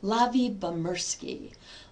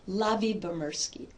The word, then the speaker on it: Lyubomirsky: Her last name is pronounced Lavie-Bomersky. Lavie-Bomersky.